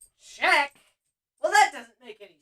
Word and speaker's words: Czech: on Earth, Czech, wha-what, it’s not pronounced like that, check, well that doesn’t make any sense, okay.